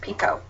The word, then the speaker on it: Picoult: that information out there her last name is pronounced Pico and um I just